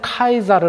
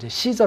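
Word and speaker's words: Caesar: 저요 예 바로 어 최근에는 카이사르 라고 이제 태어난다 합니다 요 겐지 그 발음 하게 따라서는 씨저 라고도 읽고 카이사르 캐 스 a 이렇게 여러가지 있는데 바로 그 왕을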